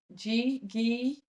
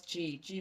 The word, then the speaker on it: ghee: and that is G, Ghee. It's actually ghee. It's actually pronounced ghee, but I thought it was gee whiz, which is that yellow